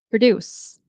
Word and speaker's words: produce: So, for example, this word, depending on where you put this dress, it's a different word. Produce. That's the verb.